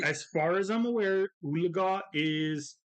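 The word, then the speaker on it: Oologah: Claremore yeah sweet as far as I'm aware ulaga is pronounce how it's spelled which is o o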